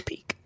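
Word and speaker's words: Pieck: Pick finger. It's peek. Peek finger.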